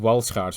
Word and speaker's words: Walschaerts: meanwhile the conventional princesses were driven by four cylinders themselves driven by four sets of wall scars valve gear yes i'm pronouncing it the belgian way another new feature on